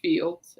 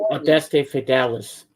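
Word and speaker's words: Fideles: Cradle in Bethlehem, Adeste Fields. And then on the back you have It's pronounced Adeste Fidelis.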